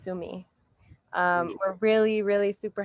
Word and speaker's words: Sumé: we just watched the tsumi film i hear i found out i was saying it wrong the whole time and it's sue me um we're really really